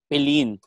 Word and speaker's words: Philline: Tapos sabi ko, it's Filline. Oh, kasi usually pagka, hindi nila ma-pronounce yung pangalan ko.